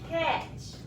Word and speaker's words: catch: The only difference is TCH has a T in the front, but guess what? That T is silent.